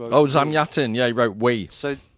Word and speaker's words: Zamyatin: So uh and I can't I'm going to butcher the the pronunciation of the author. Uh is it Zamiatins who wrote Oh Zamyatin?